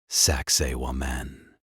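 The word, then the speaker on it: Sacsayhuamán: Finally, we travel high into the Andes mountains of Peru, overlooking the ancient Inca capital of Cusco to behold Sakaiwoman, pronounced Saxi Wan.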